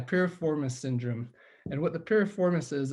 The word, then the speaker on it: piriformis: And it's weird not getting any interaction, not being able to hear anybody, but Mike Piriformis is right. Okay, piriformis. Okay. So yeah, piriformis syndrome. And what the piriformis is, it's like a triangular shaped muscle that's in your buttocks.